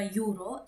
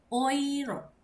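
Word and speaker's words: Euro: Jadi sebenarnya dalam bahasa Jerman itu bukan eh uro ya, bukan juga yuro, tapi oiro karena E ketemu sama U jadi O ini jadi oiro.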